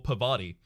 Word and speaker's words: Parvati: this her name yes you pronounce it like the cheese Havarti sorry my accent is is partly non-rhotic so the are before party doesn't like its Parvati to me rather than Parvati like